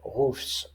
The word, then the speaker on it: roofs: Par exemple, dans roof, le toit, qui prend un S au pluriel et se prononce roofs.